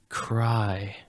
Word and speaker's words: Chri: beginning of my name and it's pronounced cry yeah no awesome